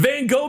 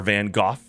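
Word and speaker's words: Van Gogh: those Shenanigans happening the van go Museum in Amsterdam or vanoff depending on how you pronounce it van go Museum in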